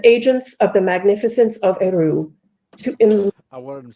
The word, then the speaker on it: Eru: I'm pretty sure you don't pronounce Eru as Eru, but who knows? It's Eru Iluvatar. Yeah, but I think the Quenya has the stress on the first syllable for 2-syllable words.